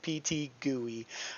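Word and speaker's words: PTGui: is called pt gui don't pronounce it any other way pt gooey um i want to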